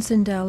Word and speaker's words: Sindel: of the game so you should know how to pronounce cindel was it really too much trouble to ask the woman to redo it I mean all you had to do is say hey um it's pronounced cindel so could you please redo it I'm sure she wouldn't mind